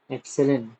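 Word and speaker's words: epsilon: ठीक है, ये जो सिंबल है ना इसको कैसे प्रोनाउंस करोगे, एप्सिलन।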